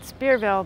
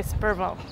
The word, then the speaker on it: Spearville: spille cansas in fact I asked the mayor how do you pronounce this town he said spearville but I heard him say spille yeah and we came